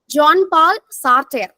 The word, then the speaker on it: Jean-Paul Sartre: John Paul Sartre.